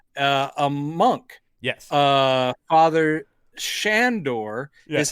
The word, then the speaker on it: Sandor: shown up is a monk yes uh father shandor is how it's pronounced all the way through the film and